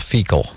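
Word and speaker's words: Feakle: and it's a little town called fecal I swear to God it's on County Clare it's spelled differently but it smells the same it's f-e-a-k-l-e I think wow and are they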